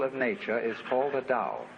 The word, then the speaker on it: Tao: nature is all the Dow t AO pronounced Dow in the Mandarin dialect Tao in the chung